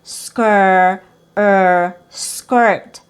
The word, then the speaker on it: skirt: So you don't want to say skirt skirt because it's not e. It's not like skll. It's with awah plus r. Skir skirt. And then we have ver virtual.